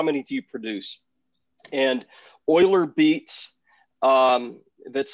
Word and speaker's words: Euler: And Euler Beats, that's spelled E-U-L-E-R, Euler, Euler Beats, just issued NFTs.